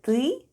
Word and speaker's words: ТЫ: is Russian for "you" The first sound is T /t/ and then we have Ы /êê/ and all together it's ТЫ /têê/.